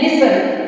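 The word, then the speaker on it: listen: नहीं करते हैं जैसे एस एल आई एस टी ई एन लिसन लिसन means होता है सुनना तो यहां पे हम टी को प्रोनाउंस नहीं करते हैं फिर दूसरा है सी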